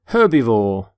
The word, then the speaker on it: herbivore: herb by the way you pronounce the H in the word herbivore for example this stomach